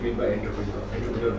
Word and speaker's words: entrepreneur: एक French word है, उससे एंटरप्रेन्योर डिराइव हुआ है, जिसको फ्रेंच में प्रोनाउंस किया जाएगा इसको एंट्राप्रेन्योर। French pronunciation of this word is entrepreneur.